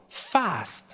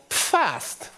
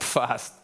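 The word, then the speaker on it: PFASST: no this is called fast in Germany because we pronounce the p and then first he was annoyed and now he pronounces it everywhere like fast so now it's known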